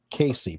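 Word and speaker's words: Cayce: Edgar Casey is from my hometown, is pretty announced Casey, prominent family in my town. I'm just saying what Willie pronounces it, so.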